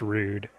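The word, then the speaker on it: Rood: too easy yeah because his real name was ruu d uh but pronounced rude and that's I think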